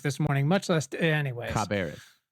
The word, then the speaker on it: Cabarrus: Caribas County is a perfect example of what we're fighting for.